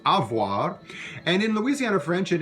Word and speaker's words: avoir: french you it's pronounced avoir and in louisiana french and in old acadian french as well sometimes that v sound gets dropped and becomes something like